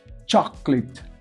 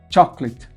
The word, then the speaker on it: chocolate: Chocolate. Chocolate. Chocolate. Veja que a primeira sílaba tônica é cho. E a segunda sílaba, clit. Pode ver que eu não pronuncio o A, ó.